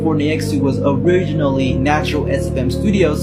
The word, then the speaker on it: Neyxtou: Neyxtou is a full pronunciation. It's not Ney. There's no romance in the name like Neyxtou, okay? Ney, X2.